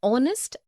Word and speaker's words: honest: also an air an honest an hour because the words air honest and our begin with the vowel sound as the initial consonant h is not pronounced article 1 we use